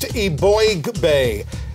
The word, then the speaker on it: Eboigbe: It's pronounced Eboigbe.